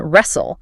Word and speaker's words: wrestle: And we see the exact same behavior in wrestle. A physical struggle on a mat isn't a W-R-E-S-T-L-E, it's a W-R-E-S-L.